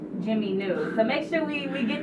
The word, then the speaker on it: Jiminu: Now, Jimmy New is not spelled like Jimmy New.